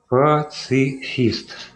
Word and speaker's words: Пацифист: Как у тебя ник читается правильно? Я извиняюсь. Пацифист. От слова пацифик.